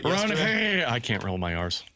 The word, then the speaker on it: Ranger: It's not Ranger Suarez. It's Ron-Hair. Ron-Hair. Uh You have to roll your r's. Ron-Hair.